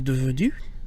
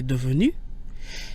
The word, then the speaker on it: devenu: Neither the E or the S changes the pronunciation of devenu.